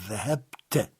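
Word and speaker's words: ذَهَبْتَ: À la deuxième personne, le suffixe, c'est toujours un ta, mais on le prononcera te. Donc dhahabte.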